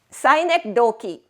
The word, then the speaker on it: synecdoche: Synecdoche. Look at the way I pronounce that word. Synecdoche.